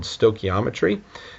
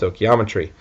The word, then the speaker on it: stoichiometry: Um, our next section here, as you can see, is going to be entitled stokiometry. Uh, that's how you pronounce that big fancy word.